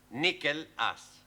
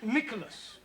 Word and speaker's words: Nicholas: upon a times there was a man called nickel ass it's not quite right no no once upon a time there was a woman called nickel ass it's pronounced Nicholas all right once upon a time there was